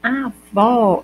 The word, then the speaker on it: avó: unidade sonora ou seja como eu digo só avô eu tenho um de que tu o tube e do ou quando eu digo avó eu tenho só do ar do v e do ó a diferença que uma é mais fechada que a outra ó já letra é a